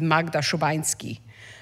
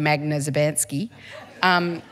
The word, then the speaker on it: Magda Szubanski: I mean, I grew up to pronounce my name properly the way my father would say it is Magda Szubanski, and I of course grew up with everyone saying Magna Szubanski.